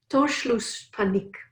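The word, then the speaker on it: Torschlusspanik: I don't know if I'm gonna cry and pronounce this correctly but it's torch loose panic and it's voiceless panic thank you it's this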